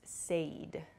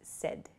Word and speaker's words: said: at the party okay please be careful of your pronunciation with the word said a lot of people I've heard use Sade Sade is not correct so please use said it sounds like s-e-d the pronunciation but it's said s-a-i-d is the spelling say becomes said she